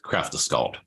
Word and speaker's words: Kraftaskald: It's Kraftaskald. Am I pronouncing that right? Yes, Kraftaskald.